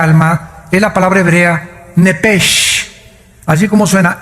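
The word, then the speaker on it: נפש: La palabra, la letra o las letras sh del hebreo se pronuncian en hebreo como J. Entonces se pronuncia nepej y los judíos como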